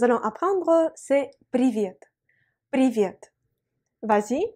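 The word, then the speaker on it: привет: mot que nous allons apprendre ces prix viennent prix viêt vas-y prononce avec moi prix rien prévient c'est l'équivalent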